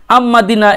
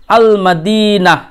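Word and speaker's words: المدينة: তাহলে এক্ষেত্রে আম্মাদিনা এরকম বললে চলবে না, সূর্যাক্ষরের মতো কি বলতে হবে? আল মাদিনা। ওকে, এখানে লামের উচ্চারণটা পূর্ণভাবে হবে।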